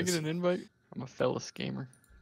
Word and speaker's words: Felis: I'm a Felis gamer. I think it's pronounced Felis, isn't like feline?